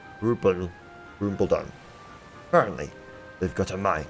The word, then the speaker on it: Khrumbul-Dun: it's called oh boy it's a silent K cut rule rupal Rumble down apparently they've got a